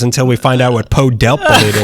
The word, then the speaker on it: Pow Delp: First name P-O-W. Like a prisoner of war. Maybe that was his nickname. His last name was D-E-L-P. Powdelp. Powdelp. It sounds like if you get hit twice by Batman.